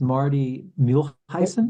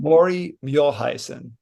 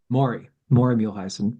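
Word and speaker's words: Maury Muehleisen: It's Marty Muehlheisen? Maury Muehlheisen. Maury Muehlheisen.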